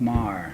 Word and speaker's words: Maher: No, it was Well, it's Maher. Maher. All right. And it's spelt the same way as it was there, M-A-H-E-R.